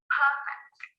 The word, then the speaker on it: perfect: Perfect, the adjective, perfect. When we change that to a verb, the stress changes to the second syllable, perfect.